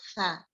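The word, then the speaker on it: ث: Kalau bacanya sa-nya lidahnya keluar, itu nggak akan jadi sin.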